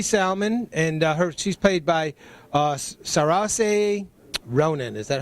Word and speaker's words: Saoirse: And it's Susie Salmon, and she's played by Saoirse Ronan. Is that how you pronounce that?